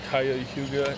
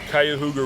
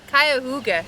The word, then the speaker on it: Cuyahoga: We are just off the Cayuga, and I'm conquering the name. You're not conquering. I'm massacring the name a la John Smith. Spell it. IT. Nope. Cuyahoga River. Cuyahoga.